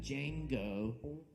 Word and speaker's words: Django: And also check out the other great upcoming events we have here at Sovereign Kava, including our Jenga and Django, I said it right, Jazz Jam, tomorrow night at 7 p.m., where we have live Django Reinhardt music and a Jenga set.